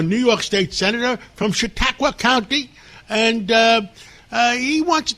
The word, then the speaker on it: Chautauqua: Well, first of all, I love your energy in saying the word Chautauqua.